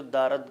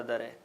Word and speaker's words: دارد: عرض کرتا چلوں کہ یہ جو دارد کا آخری دال ہے یہ کبھی کبھی ایک ہے سے، گول والی ہے سے تبدیل ہو جاتا ہے لہجے میں اور تلفظ میں، مگر اس کے معنی وہی رہتے ہیں، یعنی بالخصوص فارسی کے